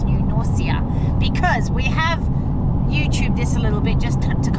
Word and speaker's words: New Norcia: It's not New Norsha. It's New Noria because we have YouTubed